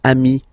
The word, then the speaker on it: amis: So singular form ami, plural form you add this S, but it's ami as well.